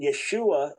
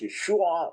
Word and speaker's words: Yeshua: So Yeshua, was it originally uh at the time of Jesus? Was it clearly pronounced Yeshua or was it simply pronounced Yeshua and and the final in ended there? That's the only debate and most degree it was Yeshua with that final a sound, but no argument that